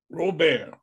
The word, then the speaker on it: Robert: mispronounce your name, Robert. Like Steve, just take Stephen Colbert and put the R on. The T is silent, but not you.